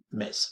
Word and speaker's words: Metz: Metz. Fijaros que se escribe M-E-T-Z, pero se dice Metz.